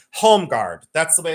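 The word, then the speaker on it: Holmegaard: This is the it's it's in in America, it's pronounced homeguard.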